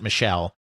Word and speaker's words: Michaela: If you look at it spelled out, it looks like it should be Michaela, but everyone, including John himself in in interviews, pronounces it Michelle.